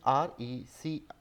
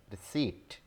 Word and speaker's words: receipt: This word is different in written and spoken patterns as well. So it is R-E-C-E-I-P-T, but pronounced as receipt, receipt, receipt, but written as R-E-C-E-I-P-T.